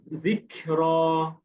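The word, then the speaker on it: ذكر: বলেন দেখি জিরো কাফের উচ্চারণ কিন্তু খুব আর কি নরম হচ্ছে দিখর দিখর জিরো খ যেন না হয় কিন্তু ক হবে খ আপনি খ যেমন বলি না আমরা যেমন আক তেমন জিকর মাশাল্লাহ মাশাল্লাহ ভালো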